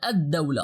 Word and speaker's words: الدولة: gave you, al-Muslim and al-Dawla. In the first noun we pronounced the full al, but in the second one we pronounced only the alif of al and we skipped the lam.